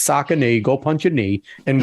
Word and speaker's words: Saucony: It's Saucony.